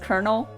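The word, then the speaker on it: colonel: it's spelled like c-o-n-e-l but it's pronounced kernel that's too much for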